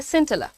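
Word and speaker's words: scintilla: इसका प्रोनाउंसिएशन है सिंटला। हाउ डू you pronounce it? सिंटला।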